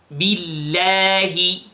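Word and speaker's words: بالله: So, billahi, and all the lafdul jalala here, the name of Allah here is light.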